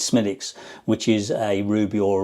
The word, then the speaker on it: Smithwick's: When we went to Ireland, we got into a drink called they pronounce it Smithwick's. I think it's Smithwick's. It's spelt, but it's Smithwick's, which is a ruby or a red ale.